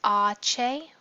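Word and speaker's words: hache: So H is pronounced ache when we're spelling out a word.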